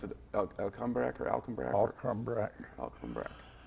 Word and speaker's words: Alcumbrack: Alcumbrack. Alcumbrack. It's just like it's spelled, really.